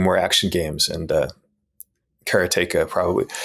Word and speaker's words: Karateka: in 1984 katea was released and I've been pronouncing it Kara all my life because that's the way it's